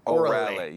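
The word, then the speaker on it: Órale: And the correct pronunciation of the restaurant is Orale.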